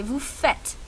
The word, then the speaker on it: vous faites: Je fais, tu fais, il fait, nous faisons, vous faites, elles font. Très bien. Attention à la prononciation ici. C'est nous faisons. Et ici, c'est vous faites.